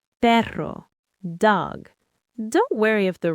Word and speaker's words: perro: But but two Rs together, the double R, are strong and rolled. Perro dog.